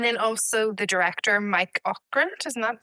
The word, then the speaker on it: Ockrent: And then also the director, Mike Ockrent, isn't that how you say it?